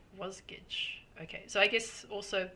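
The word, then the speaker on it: Wasgij: so Ida says that from the website of was gage g is jigsa spout backwards and is pronounced was G was Gage okay so I guess also people in different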